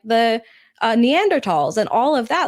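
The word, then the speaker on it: Neanderthals: pronounce it it's no the H is silent it's neander TS oh I I took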